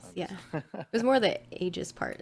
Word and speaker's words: aegis: was it called uh the aegis of vigilance aegis of vigilance got it i believe that's how you pronounce that right yep yeah the aegis of vigilance yeah it was more the aegis part it's like a weird it's like aggies